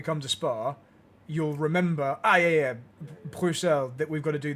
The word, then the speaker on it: Bruxelles: I don't know how you pronounce it. Bruxelles.